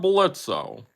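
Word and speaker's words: Blitzø: know announce the first I am I'm blitzo Theo is silent okay the first vote is for hell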